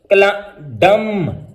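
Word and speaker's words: dumb: तो ये इसकी प्रोनाउंसिएशन हो जाएगी क्लाइम, क्रम, डम, काम। सी कब कब साइलेंट रहेगा?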